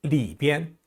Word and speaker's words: 里边: 비엔자가 원래는 제1성인데요. 지시사라든지 방향을 나타내는 낱말 뒤에 오는 비엔자는 약하게 경성으로 발음합니다. 여기, 이쪽 할 때요. 这边, 저쪽, 那边, 어느 쪽 하면 那边, 안쪽, 里边, 바깥쪽, 外边, 오른쪽, 右边, 왼쪽, 左边 이렇게 발음해요.